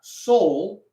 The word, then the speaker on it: sol: sing that with me make sure you do like a nice o when you're singing soul okay and everybody sing